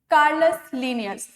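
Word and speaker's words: Carolus Linnaeus: जब भी हम लिखेंगे तो हम लोग क्या लिखेंगे? कैरोलस लीनियस, बट जब प्रोनाउंस करेंगे तो हम लोग क्या करेंगे? कार्लिनियस या कार्लस लीनियस प्रोनाउंस करेंगे।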